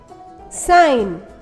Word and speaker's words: sign: letter k is silent g n sounds um sign no not design ensign notice that a g is silent here in some of the